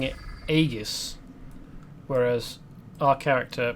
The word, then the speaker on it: aegis: to join the squadron he pronounced it aegis but i'm pretty sure that it's supposed to be aegis with a soft g instead of a hard i deserve to be